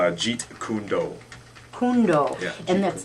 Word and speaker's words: Jeet Kune Do: Okay, Nikki, tell us about yourself and what you do, and how do you pronounce it? It's Jeet Kundo. Kundo. Yeah, And Jeet that's Kune Do.